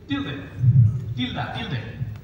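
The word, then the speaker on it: tilde: এটার উচ্চারণ হচ্ছে আমি আগেই বলে দিয়েছি, টিলদে।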